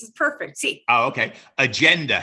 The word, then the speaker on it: agenda: Well, that GE is a GE. And GE in Spanish will not get the g sound. It will get the h sound.